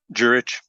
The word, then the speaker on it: Juritsch: Juritsch.